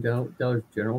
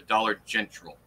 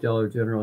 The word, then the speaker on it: Dollar General: For some goofy ass reason, everyone, just like Travis, pronounced it the Dollar Gentral.